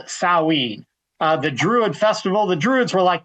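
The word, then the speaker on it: Samhain: It looks like Sam Hayne, but it's pronounced Sawin.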